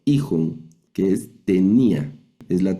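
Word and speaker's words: εἶχον: No leemos eijon, eijon, sino hij, que es tenía, es la traducción.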